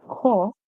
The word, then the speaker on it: cough: In the word cough, the OUGH, the OU makes the sound off. Makes the sound off, as in the small word off, and the GH is silent.